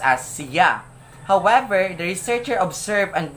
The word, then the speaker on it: siya: syllable c and yeah so it must be pronounced as siya however the researcher observed and noticed that the respondent pronounced it as siya so there we can see that the word